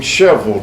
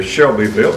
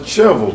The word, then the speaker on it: Shelbyville: for you last evening sheville Tennessee you would pronounce that here Shelbyville but we pronounce it sheville Tennessee it is known and